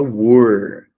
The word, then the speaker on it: were: Veja, aqui é where a pronúncia, e aqui é were. Aqui é com H, e aqui é sem o H.